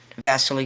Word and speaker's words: Vasily: I assume Vasily is that how you pronounce it? Vasily, somewhere around there.